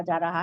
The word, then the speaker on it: czar: अब कैसर जैसा लक़ब है नहीं उर्दू में, इंग्लिश में उसे जार बोलती है, उसके साथ सी आता है, खाली ZAR नहीं आता, CZAR। सी साइलेंट है, जैसा साइकोलॉजी में S साइलेंट है ना, वैसा सी साइलेंट है।